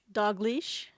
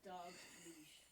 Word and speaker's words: Dalglish: Dogleash. Dogleash. You say it like dog leash, but How did I say it wrong? It's it blends into one.